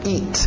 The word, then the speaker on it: eat: To eat, aquele T bem nítida. Eat, para no T, eat. Isso, EA, som de I, to eat.